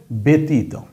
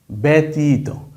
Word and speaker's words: ব্যতীত: মত এরকম না কিন্তু এইবার উচ্চারণ সরাসরি এ অর্থাৎ বাংলা কার চিহ্নে যেটাকে আমরা ধরি এ কার এই শব্দটার উচ্চারণ হবে ব্যক্তি এই শব্দটার উচ্চারণ হবে ব্যতীত ব্যতীত ব্যতীত বকার বেত দীর্ঘকারত